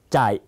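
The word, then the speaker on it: chạy: วิ่ง นะ ฮะ วิ่ง ภาษา เวียดนาม ออก เสียง ตาม จ่าย จ่าย นะ ครับ ออก เสียง สั้น ๆ ต่อ มา เรา มา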